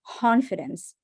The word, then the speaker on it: confidence: confidence confidence okay now we're going to say the word confidence like with an H sound like no K only H like imagine that this C is an H sound confidence confidence like like an H right like um like hat okay confidence imagine that you're just breathing out confidence confidence and now say the cut in front of it confidence confidence okay you